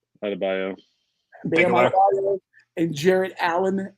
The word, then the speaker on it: Adebayo: Your guards in the middle, Bam, how you pronounce his last name? Adebayo.